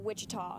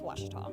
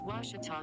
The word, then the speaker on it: Ouachita: for Washita Baptist University back in Texas everybody pronounces it Wichita but really it's Ouachita Washington how would you pronounce it off it's Ouachita Baptist University get it right it's Washington people let's